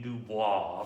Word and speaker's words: Du Bois: begin pontificating on w.e.b dubois because isn't it a french name and shouldn't that be how it's pronounced well that's not how he pronounced him that's not how anybody